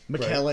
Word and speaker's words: Macallan: Macallan is in this as well.